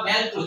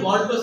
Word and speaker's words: মল্টোজ: কোন কোন বইয়ে ম্যাল্টোজ না দেখে মল্টোজ লিখছে। তো এজন্য মনে রাখতে হবে মল্টোজ বা ম্যাল্টোজ একই কথা। কেউ কেউ এদেরকে ম্যাল্টোজ বলে। এম এ দিয়ে উচ্চারণ তো ম্যাল্টোজ বলে। কিন্তু আসলে মল্টোজ উচ্চারণ হবে।